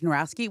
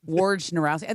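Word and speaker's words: Wojnarowski: When he is around, I call him I actually think you don't say Adrien Woraski. We don't That's actually incorrect pronunciation, too. I think it's actually Adrien. It's like w It's more of a There's more of an R in there. Wow. Yeah, War Narowski.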